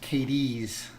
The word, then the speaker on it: Cadiz: So it's pronounced Cadiz.